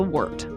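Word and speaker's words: wort: referred to as the wart. Wart is spelled W O R T, by the way. It's a German word.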